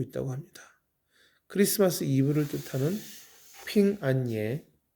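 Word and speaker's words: 平安夜: 합니다 크리스마스 이브를 뜻하는 핑 안예 한자로 그대로 읽으면 평안할 평자의 편안할 안 자 그리고 밤야자 써서 평안야 중국어 발음으로는 핑안예가 되는데이 핑안예의 첫소리 핀과 그리고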